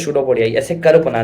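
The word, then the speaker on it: pseudopodia: कहलाते है इस called सूडो पोडिया spelling P से स्टार्ट होती है याद रखना ठीक है सुडो पोडिया क्या बोलते हैं शूड पडिया ऐसे कर्व बना द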